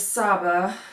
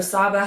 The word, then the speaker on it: Saba: The main character is Saba. I'm pretty sure that's how you pronounce it. It could be Saba, it could be Saba. I say Saba.